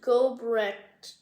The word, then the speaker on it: Gobrecht: this name but it's like I think it's pronounced gobrecht dollars um it's really hard to spell it's